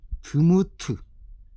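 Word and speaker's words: דמות: 모양은 드무트. 드무트. 드무트라고 읽습니다.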